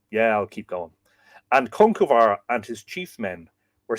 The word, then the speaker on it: Conchobar: Peter Kennedy, it's always been pronounced Conch Obar to me. Yeah, but then you see the B, right? The UBAR. Well, that would be lenited. That would have the shavo on it. Conchuvar. I would say V rather than B.